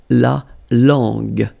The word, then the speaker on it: la langue: So you get la langue, langue, okay?